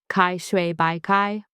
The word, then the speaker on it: 开水白菜: This is Kaishui Báicài, pronounced Caishuǐ Báicài, open water cabbage.